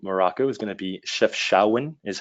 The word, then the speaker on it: Chefchaouen: Another one of my probably my favorite city in all of Morocco is going to be Chefchaouen, is how you pronounce it.